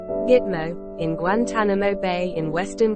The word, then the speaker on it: GTMO: the 120 square kilometer base, pronounced Gitmo, in Guantanamo Bay in western Cuba.